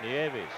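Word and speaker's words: Nieves: hitter no neav how do you say it niavis niavis Juan niavis a no hitter neis holy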